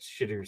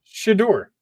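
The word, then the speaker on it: Shedeur: also I just wait could you could you pronounce this first name again one more time shador okay okay yeah I said it wrong the first time okay okay yeah you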